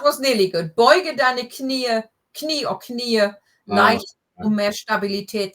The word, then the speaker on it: Knie: Beuge deine Knie or Knie, leicht mehr Stabilität zu haben. Knie is a weird word. Well, first of all, we don't have the silent K like in English.